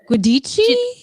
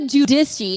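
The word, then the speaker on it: Giudice: because i always say it right wrong teresa judissi is it no guadichi no at least randy calls andy cohen says you okay so theresa judisi i saw this the other day on instagram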